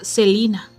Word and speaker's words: Selena: pronunciación de su nombre ella recalcaba que lo correcto era celina en septiembre de 1992